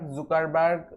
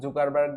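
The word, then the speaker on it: Zuckerberg: So Facebook তৈরি করেছে mark জুকারবার্গ, যাই বলেন, স্থান কাল ভেদে এর উচ্চারণটা বিভিন্ন সময় বিভিন্ন রকম করা হয়ে থাকে। বিভিন্ন জায়গায় কেউ জুকারবার্গ বলে, কেউ জাকারবার্গ, বাট আপনাদের যেটা ইচ্ছা সেটাই বলতে পারেন।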